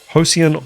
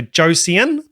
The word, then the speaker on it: Josean: the start just to get the pronunciation of the name so hosian otter can be tricky you know you might you don't want to go on there with your kiwi accent say josian nice band meeting Brett